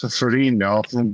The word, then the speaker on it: Ferrigno: But I've been getting that my entire life, and essentially, everybody pronounces our name incorrectly because that's not the Italian pronunciation, but it's certainly cool and unique, but it's also like, what's that?